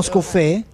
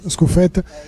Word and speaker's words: Scuffet: Non Scuffè? Io Perin tutta la vita. Ma è Perin, no? Sì, però Scuffet, perché credo si pronuncia Scuffet. Io l'ho francesizzato.